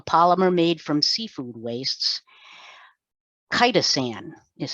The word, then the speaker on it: chitosan: Chitosan is how it's pronounced.